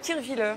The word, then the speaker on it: Kirchwiller: Kirchwiller, c'est un petit village en Alsace. Bien prononcé.